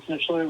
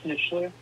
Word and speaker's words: Snitchler: Hi, this is Snitchler representing Hydro Store. Hi, could you state your last again, please? Yeah, my first name is, last name is Snitchler.